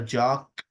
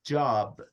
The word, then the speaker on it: job: if you got a jock it's not Jock It's job it's a b so make sure you pronounce the last letter properly do again from one to